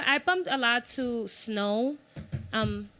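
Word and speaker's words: Snoh: like I didn't know her name was snow snow algra that's her name no yes and it's spelled s n o h Cleo soul I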